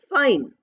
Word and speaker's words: fine: We are saying fine. F-I-N. We are ending at N. That E is not used at all.